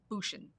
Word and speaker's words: Bushin: last week I had Aaron bushin she says it rhymes with cushion Bush and she's talking about